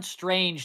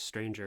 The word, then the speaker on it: Stranger: You're also pronouncing it wrong. It's On Strange Tides. No, it's Stranger. Well, whatever. Who cares? No, it's not. It's on Stranger Tides.